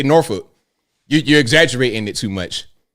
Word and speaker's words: Norfolk: when somebody's not from Virginia if they say Norfolk. That's not how you pronounce it. It's Norfolk. Norfolk. It's like you're doing too much rolling with your teeth in your mouth, man. Just say Norfolk.